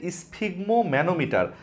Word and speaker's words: স্ফিগমোম্যানোমিটার: মাপার যন্ত্রটার নাম হচ্ছে স্ফিগমো ম্যানোমিটার রক্তচাপ মাপার যন্ত্রটার নাম হচ্ছে স্ফিগমো ম্যানো মিটার যদিও শব্দটাকে এতটাই লিখতে হবে তারপরও তোমাদের উচ্চারণ করে পড়বার সুবিধার্থে আমি একটু ভেঙে ভেঙে বলছি দেখো স্ফিগমো ম্যানোমিটার রক্তচাপ মাপার